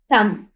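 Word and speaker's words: thumb: इसी तरह यहां पर देखें टी एच यू एम बी थंब। अब थंब में बीन हमारे पास साइलेंट साइलेंट है। क्योंकि ये थंब पढ़ा जाता है।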